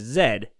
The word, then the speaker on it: Z: But one thing they were talking about is that the rest of the world, for the most part, pronounces the letter that we call Z as Zed.